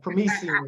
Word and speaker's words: Premisien: So Premisien is how you pronounce it.